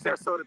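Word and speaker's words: Ceresota: The sign was for Sarasota flour, with Sarasota being spelled C-E-R-E-S-O-T-A, but being pronounced Sarasota.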